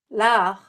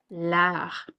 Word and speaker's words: l'art: L'art. L'art. If you notice that R and that T are very subtle, the T is silent.